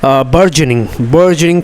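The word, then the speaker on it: burgeoning: बार्गेनिंग cash transfer का मतलब हो गया, एक्चुअली इसका जो उच्चारण है दोस्तों वो है बर्जनिंग कैश ट्रांसफ़र, जिसका मतलब होता है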